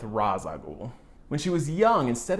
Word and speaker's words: Ra's al Ghul: And I know people pronounce that name differently, Raish, Roz, Ross. I'm going with Ra's al Ghul.